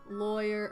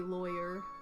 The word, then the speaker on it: lawyer: Lawyer rhymes with boy. That one. Rhymes with flaw. Oh no, I don't say lawyer. I say lawyer.